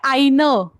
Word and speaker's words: ein: वो जो आइन फ्राउ, तो वहां पे आइन, वो ई का प्रोनाउंसिएशन पूरा कर लीजिए, क्योंकि वो आइन होता है ना, तो वो सुनाई देना चाहिए कि आप फीमेल के लिए बोल रहे हो.